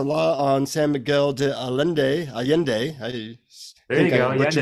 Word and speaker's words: Allende: San Miguel de Allende is that how you say it Allende yeah exactly yeah okay good good and